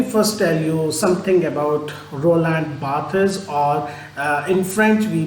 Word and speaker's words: Barthes: friends let me first tell you something about Roland Bas or uh in French we pronounce his name as Roland B uh he